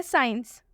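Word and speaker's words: science: जैसे कि आप एग्जाम्पल में देख सकते हैं, साइंस, साइंस में एस के बाद से सी आया हुआ है, इसलिए साइंस में सी साइलेंट होगा। तो इसका हम हिंदी में उच्चारण करेंगे साइंस।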